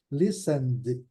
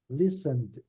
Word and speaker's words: listen: Listen aqui vocês observam ainda tem um outro detalhe o t também não é pronunciado então é Listen Listen list conhecia essa nele